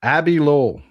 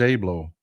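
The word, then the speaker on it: Abbe Lowell: It's pronounced Abby Lowell. Oh, thank you. I thought it was Abe Lowell. My bad. Abby Lowell.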